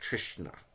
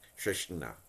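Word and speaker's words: तृष्णा: I think it's pronounced Trishna or something. Trishna. I think there's like a little bit of a nasal nya in there.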